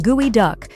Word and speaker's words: geoduck: George is a geoduck diver. Pronounced gooey duck, the world's largest burrowing clam has